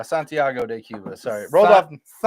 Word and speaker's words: Santiago de Cuba: is founded in Santgo de Cuba. Okay. Okay. No, you didn't say it right. No. Santiago de Cuba.